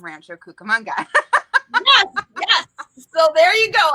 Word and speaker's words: Rancho Cucamonga: always say that wrong rancho rancho cucamonga is that did i say it right you said it just exactly as you would say it if you're from rancho cucamonga yes so there you